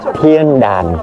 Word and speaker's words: Thiên Đàn: mọi người chữ đàn mình đọc theo kiểu miền Nam thì giống như có g Nhưng mà thực chất nó là An nha mọi người đàn Nha Thiên đàn đó tên đúng của nó phát âm chính xác là như vậy ha và bây giờ